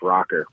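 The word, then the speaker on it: Rokr: The Motorola Roker. I remember that phone. It's pronounced rocker, bro. Get it right.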